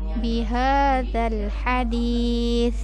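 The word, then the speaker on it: بِهَٰذَا الْحَدِيثِ: Kemudian bihadzal hadis, ini sa ujung lidah juga. Hadis bukan hadis, bukan begitu ya. Apalagi hadis salah juga. Tapi di ujung lidah. Bihadzal hadis gitu ya.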